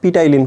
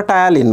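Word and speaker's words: ptyalin: এটা প্রশ্ন আসছে, ইংলিশ বানান পিটাইলিন কোথায় থাকে। তো আমি তো বুঝতেছি না পিটাইলিন বলতে সে কী বলতেছে। যখন পরীক্ষার প্রশ্নটা আমরা পরবর্তীতে দেখলাম, পরীক্ষার পরে দেখলাম ওটা টায়ালিন বানান। বুঝতে পারছো, পিটা সাইলেন্ট থাকে।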